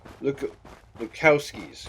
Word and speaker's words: Lukowski's: Okay, this is not Lebowski, but it sounds similar. It's pronounced similarly to it. Packing plant. Long Neck Lukowski's Cannery.